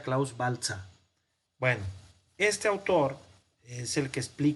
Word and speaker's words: Klaus Baltzer: Se pronuncia Klaus Baltzer.